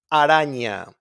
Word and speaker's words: araña: We don't roll our R's in there. Like in araña. Araña, as you can see, is not a double R and is not at the beginning of the word.